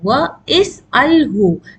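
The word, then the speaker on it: وَاسْأَلْهُ: Wa is'alhu. Lam with a sukoon.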